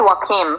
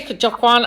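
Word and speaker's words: Joaquin: the recent film with uh I think it's Johan Phoenix. I might be saying his name wrong. I might be pronouncing it wrong. However, it's wim. Wim. I say kawwan.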